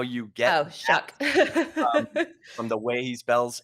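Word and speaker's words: Shough: And it's actually pronounced Tyler Shuck. I don't know how you get Oh, that shuck.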